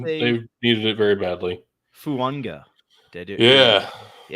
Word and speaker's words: Fuaga: But the traditional pronunciation of his name is Fuanga, as is like the Polynesian, like those island traditions of there is that A before a consonant in the middle of a name. The AG is Ung.